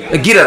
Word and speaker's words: গিট: এটা গিরা দেওয়া। আচ্ছা, যেটাই হোক, বাংলা ভাষায় না, মূল উচ্চারণটা গিট, গিট দেওয়া। আর গিরাটা আমাদের লোকালি বিভিন্ন জায়গায় বলে গিট দিয়ে দেওয়া।